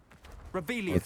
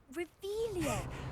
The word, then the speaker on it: Revelio: Rebellion where are you rebellious saying it wrong ugh revealia much better wait Tire school year